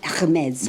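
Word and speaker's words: Hermès: Hermes.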